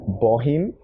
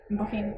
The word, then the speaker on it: Bohinj: Bohinj (nodding) so if you read it in English you're gonna say bohinj. one thing you need to know about everything in the Balkans is the Js like are not pronounced.